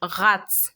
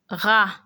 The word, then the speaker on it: rat: So we have maman, rat, va, la. So the ra, it is not rat. You don't pronounce the T. So it will be maman, rat, va, la.